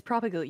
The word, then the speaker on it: propagule: It's propagule. You say it every time and then you just add on like 18 different syllables. Yes. Like you say it correctly.